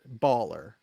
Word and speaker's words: Balwer: 7 is Balwer's Bulwer. Bawler, I believe. Baller. It's not. WLER? No. No, that's how it's pronounced. Baller.